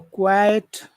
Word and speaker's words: quiet: She gave a quiet. Quite like very or quiet like shh. Quiet. It's very important to separate the two vowel sounds with that E in the middle.